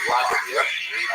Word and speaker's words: Vladimir: What's especially important in its history is the conversion of one of its leaders, the Volodymyr, pronounced in Russian Vladimir, shown here as a statue overlooking the Volodymyr made a decision basically.